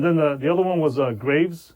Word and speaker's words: Graves: And then the other one was Graves. Oh no, that's how numbnuts pronounce it. Graves. Grav. Yeah.